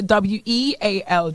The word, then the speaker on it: weal: Wheel is when you mark the skin. That's a WEAL, Jody. No H. Oh, some people spell it with an H too.